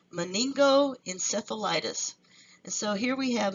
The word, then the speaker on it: meningoencephalitis: in the New World and meningoencephalitis that's how you say it meningoencephalitis and so here we